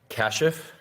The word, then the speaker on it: Kashif: I have with me here Kashif. Yes, sir. Correct pronunciation?